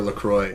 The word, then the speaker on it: LaCroix: got an extra LaCroix.